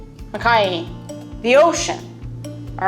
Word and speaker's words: makai: Now, last episode we focused on the Mauka, the mountainside of Hawaii, and this time we're focusing on the, say it right, Makai, the ocean.